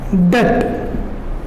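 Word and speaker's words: debt: Acknowledgement to डेट। DBT B silent रहता है, डेट बोलते हैं।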